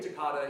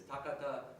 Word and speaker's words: Takata: do and I say Takata even though the Japanese pronunciation is Takata because she's Japanese American and that's how she